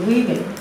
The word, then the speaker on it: women: là A đó, thì ta đọc âm u và ơ ngắn ha, nhớ phần đầu woman, à, lấy cách đọc số ít woman, số nhiều women, u ơ woman, còn cái này là women, số nhiều.